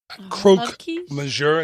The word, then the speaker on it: croque monsieur: Sides, fromage, quiche, croque monsieur.